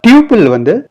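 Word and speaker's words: tuple: டியூபிள் டப்பிள்னு pronounce பண்ணுவாங்க.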